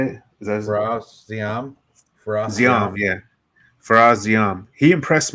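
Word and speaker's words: Ziam: Siam, yeah.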